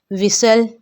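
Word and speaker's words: whistle: अगर किसी लफ्ज़ में टी के पहले S और बाद में L हो तो वहाँ पर टी की आवाज़ खामोश हो जाएगी।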